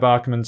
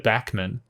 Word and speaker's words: Bäckman: correctly by the way i know there's a two little dots on top but i'm pretty sure that's a bar like instead of backman it's bachmann i'm hoping that's it